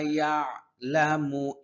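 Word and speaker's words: يَعْلَمُ: রব্বুনা রব্বুনা ইয়ালামু ইয়া আইনের উচ্চারণ হ্যাঁ সহি ভাবে করতে হবে আইন ইয়া লামু ইয়া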